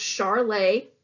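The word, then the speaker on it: Charolais: as B white cows this is pronounced Charlet if you aren't familiar and with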